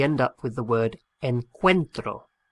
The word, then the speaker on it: encuentro: an irregular verb and the stress of the pronunciation on that first o splits the o into a u and an e and we end up